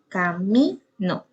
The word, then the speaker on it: camino: Por ejemplo, camino. Aquí en camino, el acento está en mi.